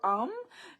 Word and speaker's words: Om: can do ah or um and om so om can be pronounced as um or both I like both so